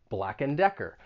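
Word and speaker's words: Black & Decker: use around the home and once again you're not going to say and you're going to reduce it to just n black and decker black and decker next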